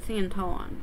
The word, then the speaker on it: senton: So, senton, I think is how it's pronounced.